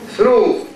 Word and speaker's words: through: How do we say this word, for example? Through. Okay? Through. What happened to the GH? Silent. Do we have this in Arabic?